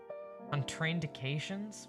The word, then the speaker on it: contraindication: Contraindications.